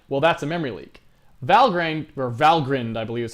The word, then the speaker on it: Valgrind: Valgrind, I believe is how it's pronounced.